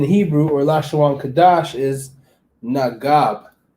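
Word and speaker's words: נגב: So the word south in Hebrew or Lashawan Qadash is Nagab. Nagab. All right, Nagab spelled like this in the Lashawan Qadash.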